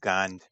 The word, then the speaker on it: Gond: Uh, Oh, Gond, right? Yeah, Gong. G-O-N-D. G-O-N-D. I still bad pronouncing stuff.